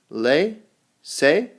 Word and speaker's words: laissez-faire: All right, our next word is from French. It is pronounced laissez-faire.